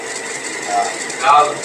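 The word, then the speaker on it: ذال: দাল দাল দাল দাল জাল এই ঠিক এইটার মতই আবার এই জাল জাল জাল জাল এইটার উচ্চারণও জিহ্বার আগায় ছা বলছিলাম ছা ছা জাল জাল জিহ্বার আগাটা যাইয়া এই যে উপরে দাঁত জাল ছা তিনটা শব্দ এখান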